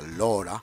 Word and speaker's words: Laura: Y Laura, en este caso sería Lora, se pronuncia Lora.